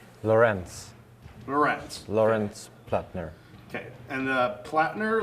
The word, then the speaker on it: Plattner: last name again yeah in German you would say plat plat yeah okay so like as long so plottin there yeah okay cool